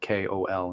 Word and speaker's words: Kol: I spell it uniquely, Kol instead of Cole. So it's kind of like in Hindi where it's like Kohl for like the dark stuff that we put around our eyes, like eyeliner.